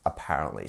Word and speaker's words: apparently: so we say apparently where is our stress in this word as it's another big word yeah so follow the same rule as before we have our Mark here our Mark here it's our P it's our second part of the word here so our second syllable apparently a that is our stress syllable here so apparently apparently very